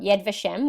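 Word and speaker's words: Yad Vashem: part of it but this is from yed yed vashiva how do you say it um yed vashem which is a group in based in Israel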